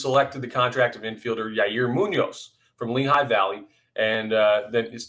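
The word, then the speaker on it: Yairo Muñoz: Let's say his name right. Yairo Munoz. I keep wanting to say it like Frankie Muniz from Malcolm in the Middle.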